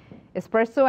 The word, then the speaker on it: espresso: It's not. Espresso, it is espresso.